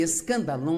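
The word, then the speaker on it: σκάνδαλον: palavra ofensa vem de uma palavra grega pronuncia-se escandal é na verdade a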